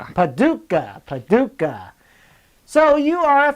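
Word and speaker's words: Paducah: I I can't pronounce this. What's this town called? It's Paduka. Paduka.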